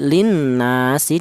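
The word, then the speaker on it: لِلنَّاسِ: Bacaan kedua ada nun yang bertasydid, dibaca gunna. Bacaan yang ketiga ada yaitu ada alif didahului huruf yang berharakat fathah, dibaca matobi. Jadi cara bacanya ya linnasi ya, linnasi seperti itu.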